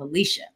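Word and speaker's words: Alechia: And Alicia, where can stay connected with you? All over Beyonce's internet at Alicia. Y'all know it's spelled special, A-L-E-C-H-I-A, but don't worry.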